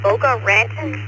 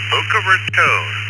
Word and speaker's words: Boca Raton: Scott in Boca Ranton, Florida. It's kind of hard to pronounce. Uh, tell me if pronounced it right. Down to you. Uh, Boca Raton.